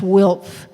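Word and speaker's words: WILPF: for Peace and Freedom which we do pronounce wilp um it's sort of all at the end those those consonant sort of all go together um is that the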